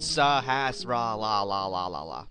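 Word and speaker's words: Sahasrahla: I had to like pronounce like each syllable, but Sahasrara.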